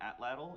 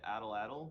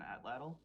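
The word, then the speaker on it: atlatl: that you get from here it's called an atlal even though everyone will say adalle but it's they're pronouncing it wrong it's an atlal um it's a range weapon yeah like a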